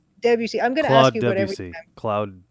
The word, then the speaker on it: Debussy: How do you pronounce the guy's name? Debussy. Debussy.